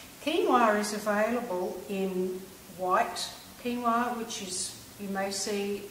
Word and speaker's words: quinoa: you now quinoa you might have seen it's qu i n o a which is quoa but it's actually pronounced quinoa and it's an ancient seed now